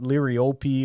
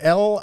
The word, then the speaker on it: liriope: for years but liriope because I want to call it lyriopi or whatever you know for people keeping score at home it's spelled l-i-r-i-o-p-e yes or lily Turf